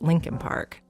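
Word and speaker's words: Leakin Park: It's actually spelled Lincoln Park, L E A K I N, but almost everyone in Baltimore pronounces it Lincoln Park.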